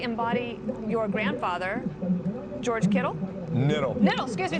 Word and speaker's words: Kittle: Niddle. Niddle, excuse me. The K K is silent. The K is silent. Niddle.